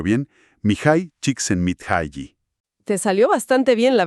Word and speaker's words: Csikszentmihalyi: El libro Flow, o Fluir, una psicología de la felicidad, del famosísimo psicólogo, y a ver si lo pronuncio bien, Mihai Csikszentmihalyi.